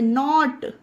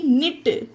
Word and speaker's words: knit: KNIT, निट, इसे निट पढ़ेंगे। न्यू, नाइट, नेव, nail, नैपर। ये सारे एग्जाम्पल में देखिए गाइस, ध्यान दीजिए, के बाद एन है तो के का उच्चारण नहीं होता।